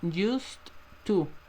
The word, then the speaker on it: used to: Se escribe used to, pero no vamos a pronunciarlo así, chicos, por favor, lo vamos a pronunciar como used to.